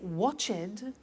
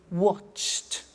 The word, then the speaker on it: watched: are hard sounds now when we add the ed what happens is the pronunciation becomes T we don't say watch it we eliminate the e and we say watched okay interesting hey so